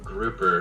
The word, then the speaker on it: Grupper: So please welcome Grupper. How are you today? Oh, I'm good, Sarah. Very much, thank you. A note, it's pronounced grouper, like the fish.